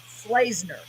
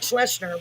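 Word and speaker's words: Slaysner: only got messages and he said you pronounce it slasener s-l-a-y-s-n-e-r slaser yeah and it looks like schlesner but that's what he said so i'm going to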